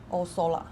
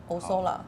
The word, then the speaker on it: Osola: 這裡是Tiziana 2025的新香 This is Tiziana's new fragrance for 2025 它怎麼念 How do you pronounce it? 它叫 It's called Osola Osola 它是一個 It's a 它算地名吧 It's probably a place